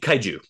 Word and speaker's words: Kaiju: you you'll have to help me with the pronunciation because the Japanese word for them is that right uh Kai Kaiju Kaiju Kaiju Kaiju okay so when you get